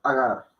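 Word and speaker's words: अगर: Pero entre ga y ra, gar, ahí está la A corta, sin ninguna matra ni representación, pero sí pronunciándose. ¿Okay? Agar. No es agar, ni agar, no, agar. Agar. Agar. Agar. Porque las dos A son cortas.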